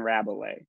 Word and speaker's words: Rabelais: didn't see you there Colton mispronounce my name so I didn't even realize I was up next okay cool uh hi my name is Rabelais that's how you pronounce it Oh things are